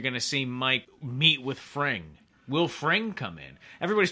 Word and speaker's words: Fring: Fring. I think it's I think. Frayne. Is it Fring or It's Frayne? It's like fringe, but you pronounce it Fring, I think.